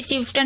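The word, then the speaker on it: chieftain: देखिए चिफ्टन में भी आप देख रहे हैं कि पहले ची, आई, ई को ई की मात्रा पढ़ रहे हैं, उसके बाद देखिए AI आ रहा है टी के बाद, तो यहाँ पर इसे आ पढ़ रहे हैं। तो यहाँ पर हमने ए नहीं पढ़ा है।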